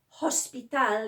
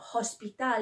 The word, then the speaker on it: hospital: The sound for that is this. It is silent. Now, you will see that written in Spanish. You don't pronounce it like, you don't say hola. You shouldn't say hola. It's not hola, it's hola. Hospital is not hospital, it's hospital. They just start from the O, okay?